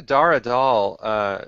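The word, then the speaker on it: Dar Adal: Back to Dara Dahl.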